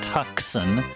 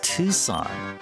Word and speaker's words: Tucson: No, it's not pronounced tuxen. It's not pronounced tuxen. It is Tucson.